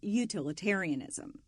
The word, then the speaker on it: utilitarianism: And the first one we're going to discuss is utilitarianism. Okay, that's how that word is pronounced.